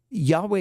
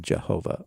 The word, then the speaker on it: Yahweh: Yeah, so the name of, Yahweh is a better way to pronounce the name of God probably than Jehovah.